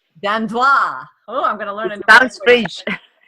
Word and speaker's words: Dandois: Her name is Dandois.